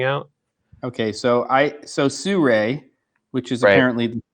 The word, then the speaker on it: Sirui: that are coming out okay so I so Sur which is apparently the correct way to pronounce that company's name at least per somebody